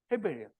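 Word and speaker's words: הבל: 우리말로 읽지 말고 히브리어로 읽어봐. 예, 아벨인데 스펠링이 똑같잖아요. 헤벨이에요.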